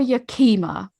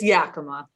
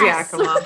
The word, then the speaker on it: Yakima: this and he's like is he yakima or yokima because i'd say yokima and i said i've